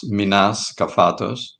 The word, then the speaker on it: Menas Kefatos: My name is pronounced Minas Cafos. Um it's Greek and uh yeah absolutely.